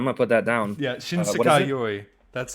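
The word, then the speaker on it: 新世界より: Yeah, Shinsekai Yoi. That's how you say it. How do I spell it?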